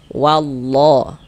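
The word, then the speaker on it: والله: Nah, kemudian di sini wallah ini jangan kita baca wala jangan. Tapi kita tebalkan wallah. Nah, wallah kita tebalkan. Jangan dibaca wallah.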